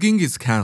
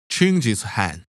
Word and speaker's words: Genghis Khan: "I see Your Honor is familiar with Genghis Khan, the 13th century warlord whose military campaigns killed millions and left nothing but destruction in their wake." "Objection. First of all, it's pronounced Genghis Kahn."